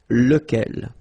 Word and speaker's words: lequel: Even if you've got this QU, okay, remember that this U phonetically doesn't exist, so lequel.